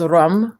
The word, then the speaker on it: ram: The bija mantra is rum, rum, rum, rum, rum. Like it's spelled RAM, but it's not pronounced quite that way.